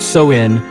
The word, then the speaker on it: Samhain: The primary precursor to Halloween is the ancient Celtic festival of Samhain, pronounced Samhain, observed in the areas now comprising Ireland, the UK, and northern France.